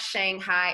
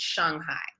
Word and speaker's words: Shanghai: little thing it's not shanghai it's shanghai shanghai shanghai yes like s-h-u-n-g as opposed to s-h-a-n-g you're pronouncing what the